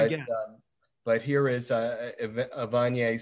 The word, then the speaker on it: Evanier: Evanier.